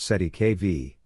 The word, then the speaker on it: cestui que vie: The term cestuic kvi pronounced si kv is a legal concept originating from French law and used in common law contexts specifically in trust law.